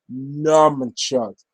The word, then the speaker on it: nunchuck: kept pronouncing it as nunchucks, which was really irritating Brother Chris. Like, there's no M. There's no M in the word nunchuck.